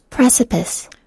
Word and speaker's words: precipice: precipice, precipice, precipice 이렇게 하네요. precipice, precipice. 네. 다음 시간에 같이 보면 좋을 것 같아요. 다시 가서 What's precipice? 앞쪽에 강세가 있네요.